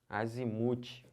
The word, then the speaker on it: azimute: que pronuncia Tá bom olha a outra aqui ó azimut azimute é o muque a sílaba tônica tô falando que são paroxítonas última penúltima asimut é o que